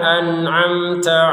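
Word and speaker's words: أنعمت: An'amta di sini yang pertama hamzah, yang kedua ain. Jadi harus berbeda. Jadi jangan hamzah semua, jangan ain semua. Hamzah itu di bawah tenggorokan bawah. Ain itu tenggorokan tengah. anam. Jadi secara pendengaran sudah berbeda gitu ya. Cara pengeluarannya beda. Kalau didengarkan juga berbeda.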